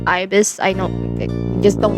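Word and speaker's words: Ibis Paint: And yes, I know my pronunciation is Ebis Paint as of Ibis.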